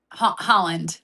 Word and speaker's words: Haaland: Erling Haaland? Haaland.